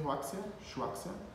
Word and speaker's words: Huaxia: Huaxia, assim pronuncia, Huaxia.